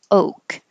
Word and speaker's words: oak: Oak. You don't have to make a k like I just did.